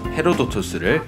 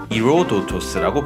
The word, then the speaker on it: Ηρόδοτος: 그래서 현대 그리스어로는 헤로도토스를 이로도토스라고 부르는데, 철자는 똑같지만 앞에 있는 글자가 더 이상 히읗 음가를 가지지 않는 것을 알 수 있습니다.